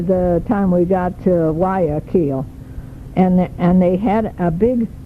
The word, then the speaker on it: Guayaquil: It's spelled Guaquuill, and it's pronounced actually Guayaquil. Guayaquil.